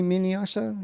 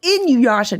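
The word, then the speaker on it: Inuyasha: that I cannot pronounce is it mini Minasha or something minha it's in Yasha Jimmy oh in my Yasha I in your Yasha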